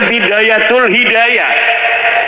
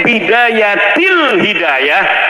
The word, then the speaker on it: Bidayatil Hidayah: Karena deke maca Bidayatul Hidayah. Harus sebab dibacanya Bidayatil Hidayah karena ana huruf cerbe.